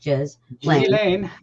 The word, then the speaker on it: Ghislaine: I know exactly how anybody who gets upset about Epstein feels about Ghislaine, pronounced Ghislaine.